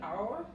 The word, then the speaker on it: our: u, y la r, our, igual que la palabra que tiene H por hora en inglés, se pronuncia igual, porque la H en esa palabra no se pronuncia.